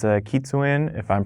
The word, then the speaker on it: kitsune: it's from the the drifter skin it's a kitsune if i'm pronouncing that correctly type mask and this is